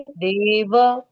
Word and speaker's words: देव: करने से देव देव हम देव बोलते हैं हिंदी में लेकिन संस्कृत में देव व पूरा बोलना पड़ेगा देव इति इति परमो